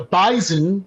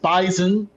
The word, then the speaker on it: Bison: Um, the Bisonen, as it's pronounced, so that's another thing for you FBS fans to get familiar with. It's actually pronounced Bisonen, not Bison.